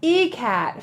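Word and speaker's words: ikat: send for the rescue it's pronounced e-cat fabric made using an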